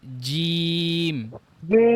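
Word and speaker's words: ج: শক্ত জিহ্বার মধ্যখান থেকে জিহ্বার মধ্যখান উপরে লাগবে জিম চাপ দিয়ে খ খ খ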